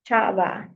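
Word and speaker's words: Sjava: it is by um a musician named chaa that is how it's pronounced but it is spelled sja a v a I would say I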